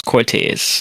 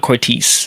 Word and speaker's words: Cortez: Um, and it's not, well, I made sure I pronounced it right. It's Cortez, not Cortis. It's Cortez.